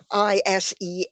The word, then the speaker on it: Iseabail: spelling, but it's uh, anyone who isn't familiar with Gaelic wouldn't know that Iseabail was pronounced Ishbel.